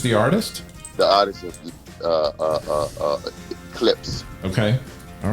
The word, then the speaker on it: Clipse: It's Clips. Clips. Clipse. Clips Okay. and Neptune. Clips kind of, is it spelled like the speakers? I don't know about the speakers. Maybe like the car without the E.